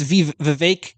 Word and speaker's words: Vivek: with our prediction that Vivek it's Vivek rhymes with cake we've been mispronounced yeah